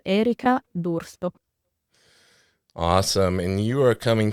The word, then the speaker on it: D'Urso: excited to be joined today by Miss. Did I over-enunciate? Yes. Tell me the proper way to say it, because I knew I was going to butcher it. Oh, no, it's okay. It's Erika Dursto.